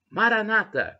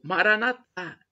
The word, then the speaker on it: Maranata: Cristo e eu amo Maranata como dizem os nossos irmãos protestantes ou evangélicos a Maranata como dizemos nós católicos nós colocamos a tônica na última sílaba ele na penúltima mas não importa se